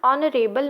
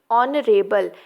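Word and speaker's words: honorable: रहे हैं इसलिए क्योंकि ऑनरेबल, यहाँ एच साइलेंट है और ओ पहले प्रोनाउंस हो रहा है।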